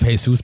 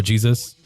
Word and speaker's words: Jesus: Our fullback situation is still horrible, but we have Jesus back, or Jesus. I think it's Jesus, yeah, because you pronounce the J in Brazil, in Portuguese.